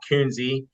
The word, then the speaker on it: Kuenzi: the last name so uh it's dot coonsie the last name is spelled k-u-e-n as in Nancy Z as in